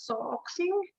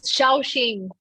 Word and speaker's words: Shaoxing: There is a soxing. I don't know if I said that right. I actually didn't have any. Sorry. It's Shaoxing.